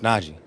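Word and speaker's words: Najee: going tweet out it's na G not n j it's Naj it's it's important you it it can't be any harder than what it is like it's n a j e e exactly where do y'all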